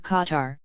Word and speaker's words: Qatar: In the case of pronouncing a name like Qatar Qatar, starting with the letter Gaf which defies English vocalization, the pronunciation guitar asterisk is remote enough to be civilized, but the proposed pronunciation gutter is so far off